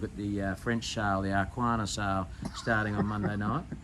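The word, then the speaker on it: Arqana: We've made the call that we're going to have a look at the French sale, the Arquana sale, starting on Monday night. That's a good pronunciation.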